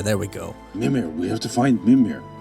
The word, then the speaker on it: Mimir: Mimir, there we go. Mimir.